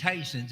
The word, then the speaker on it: Tyson's: and that's tyson's it's tyson's it's the same as pronouncing it the same way you would um the meat packing company we're just the farm